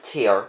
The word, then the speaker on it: tear: It's tear to rhyme with here.